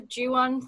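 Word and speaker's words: Juan: yeah it's possible that the juwan thing is a little bit of a dig um potentially um but yeah it's most it's mostly to fit with the rhyme and as as far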